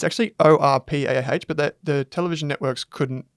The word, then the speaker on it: Orpah: It's actually Orpah, but the television networks couldn't remember it and they couldn't spell it correctly, so she just changed it to Oprah.